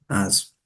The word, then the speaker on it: azo: Et écoute bien, hazo et azo. Il y a vraiment deux différences. Là, on prononce vraiment le H, has. Et là, on ne prononce pas as.